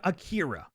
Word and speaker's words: Akira: we say it here oh it's yeah it's it's like you say an r sound but you don't put your tongue in the same place that you would for the english one yeah it sounds more like a d when it's pronounced by